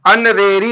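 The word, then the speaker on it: honorary: ओ आर ए वाई अन रेरी लिखा गया है तो क्या लिखा गया अन रेरी यहां पर एच साइलेंट है अन रेरी मींस माननीय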